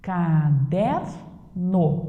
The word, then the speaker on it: caderno: Caderno. Qual é a sílaba tônica? O der.